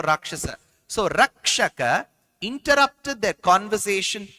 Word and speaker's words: Rakshasa: So you will know the exact pronunciation, whether it is Rakshaka or Rakshasa. Ra, that above A you will get that line for Rakshasa.